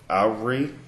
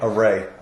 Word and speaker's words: awry: awry, A-W-R-Y. Array.